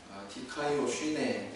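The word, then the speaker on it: δικαιοσύνη: 헬라어로 의에 해당되는 단어는 디카이오 쉬네 이렇게 발음한답니다.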